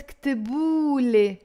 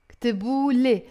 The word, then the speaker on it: كتبو: Whenever we have the waw at the end of your word, we end up pronouncing it most of the times as a O, not U like standard Arabic.